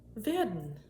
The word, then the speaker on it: werden: Now, correct me if I'm wrong, this particular word, whether it's a long E or it's a short E, I think it's probably going to be a short E because it's followed by two consonants.